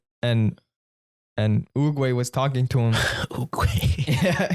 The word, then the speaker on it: Oogway: Okay, he said, oh yeah, Oogway.